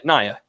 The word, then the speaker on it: Nia Jax: That's how you pronounce it? Yeah, Nia.